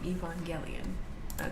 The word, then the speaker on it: Evangelion: Evangelion. I always say it wrong. Evangelion. That's what it is.